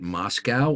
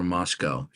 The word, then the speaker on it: Moscow: is it is it is it Moscow or Moscow Moscow no it's both Ultra yeah the the both pronunciations are viable okay okay so so